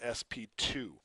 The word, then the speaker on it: sp2: you can also have this is not pronounced SP squared this is called SP 2 and at an sp2